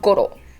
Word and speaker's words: Goro: that kind of stuff just uh just keep in mind of that rolling r and the intonation not being in row but more okay um i didn't